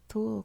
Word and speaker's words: Thule: I'm assuming that's pronounced like the Icelandic, the like between a TH and a T sound in English, Thule culture.